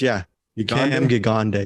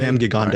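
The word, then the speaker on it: Cam Gigandet: His name is Cam Gigande. That's how you pronounce it. Cam Gigande.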